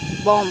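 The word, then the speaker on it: bomb: बॉम कहते हैं ना बॉम। तक प्रोनाउंस करते हैं और बी साइलेंट रहता है।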